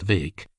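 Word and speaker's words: Bheag: little Farquar or Farquar Vake BH EG pronounced Vake as he was euphoniously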